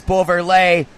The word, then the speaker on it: Beauverlet: Here comes Beauverlet. Rhymes with spray.